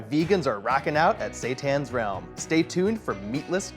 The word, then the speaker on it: Seitan: of its meat substitute, Seitan, which some pronounce Satan and associate with heavy metal rock and roll, but it's anything but that.